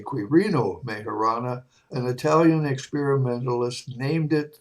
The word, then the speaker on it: Quirino Majorana: In 1920, Quirino Majorana, to say it properly, I should say Quirino Majorana, an Italian experimentalist, named it the graviton.